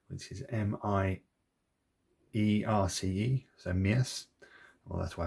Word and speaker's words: Mierce: Are from a company, I'm going to try and pronounce this properly, called Mierce, which is M-I-E-R-C-E, so Mierce.